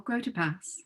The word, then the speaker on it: Grotepas: welcome Jamie Davis and Nicole Grotepas. Did I say that? Yes. You Yep. did. You Nice did. job. It's pronounced Davis, so you did a good Oh, job.